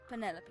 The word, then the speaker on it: Penelope: Is that short for Oh, Penelope? Penny. Oh. Officially, yes, but I never can be bothered with all 4 syllables of it. Penelope sounds a little ostentatious coming out of the mouth, don't Wow, you?